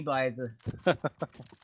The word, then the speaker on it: Bisora: Bisora, my pronunciation pronunciation of the names is killing me. how do you pronounce your name? Bis no, you you got it right. You got it right. 100% right.